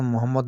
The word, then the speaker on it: মোহাম্মদ: নামটি মোহাম্মদ লিখতে গেলে দেখবেন 2 ঠোঁট এক জায়গায় ঠেকে যায়। হ্যাঁ, কিন্তু 2 ঠোঁট যদি একত্রিত না হয় তাহলে সেখানে মোহাম্মদ নাম উচ্চারণ হতেই পারে না। আপনারা দেখবেন উচ্চারণ করে দেখবেন ওপর ঠোঁটের সঙ্গে নামো ঠোঁট যদি যোগ না হয় তাহলে মোহাম্মদ উচ্চারণ হবে না।